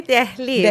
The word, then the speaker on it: Delhi: In Farsi, we say Delhi, but I think you're Delhi. Yeah, it's the same thing.